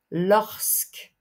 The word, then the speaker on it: lorsque: suivi d'un nom lorsque ici évidemment vous prononcez le S lorsque lorsque est toujours suivi